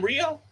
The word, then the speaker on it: Rhio: Wait, is this the same Rio?